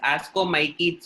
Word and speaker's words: ascomycetes: So you can call this as ascomycetes also. That CE is pronounced as KE.